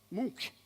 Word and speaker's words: Munch: Munch.